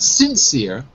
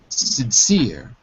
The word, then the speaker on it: sincere: she sure ok good but we put the stress on the second syllable not sincere but sincere sincere good that's it very good